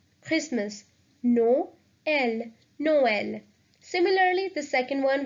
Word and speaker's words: Noël: So we will pronounce both these vowels separately. So the word is Noël, Christmas. Noël, Noël.